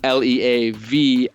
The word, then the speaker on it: Leavitt: And just to clarify, because my name doesn't sound like it's spelt, it's Leavitt.